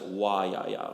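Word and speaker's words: Woyaya: going and it's pronounced waa with a kind of an open o sound like the vowel in thought SOA try it out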